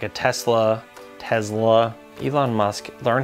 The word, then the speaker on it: Tesla: probably take like a Tesla Tesla Elon Musk learn how to pronounce an S it's not a Z he doesn't call it the models Model S it's Tesla not Tesla I'd probably take a Model